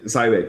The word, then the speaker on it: Cybik: How you pronounce it? Cybik? Okay. Cybik, yeah.